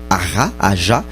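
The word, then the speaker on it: Aja: dessiné principalement par David AR a on va prononcer ça comme a espagnol et puis ça se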